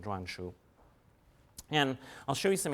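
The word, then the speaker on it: 篆书: It comes to be called seal script, and I'll give you the Chinese and Mandarin pronunciation, zhuanshu.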